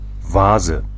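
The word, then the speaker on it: Vase: vaza vaza FAA FAA in English people say V and V and I don't know VA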